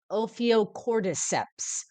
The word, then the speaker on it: Ophiocordyceps: So I might say something like O, and then I know PH has an F sound, Ophio, Ophiocord, Ophiocordyceps. Perhaps could be how to say this.